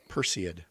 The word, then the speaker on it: Perseid: do you say this is it persid perseid perseid yep Perseus yes okay it was very cool